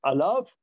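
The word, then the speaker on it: עליו: Alors, c'est écrit Ve'alav, c'est écrit Allo, mais ça se prononce Alav.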